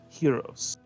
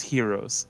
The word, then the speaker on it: Choiros: The Piggy of Legend shall now be known as Heroes, spelled Choiros. Okay.